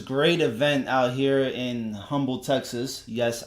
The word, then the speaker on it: Humble: event out here in Humble Texas yes I say humble it has an H in front of it okay I pronounce the H she put out as